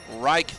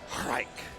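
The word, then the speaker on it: Raich: So, Reich. Reich. Gosh, why is that so familiar? I don't know, but it rhymes with Psych.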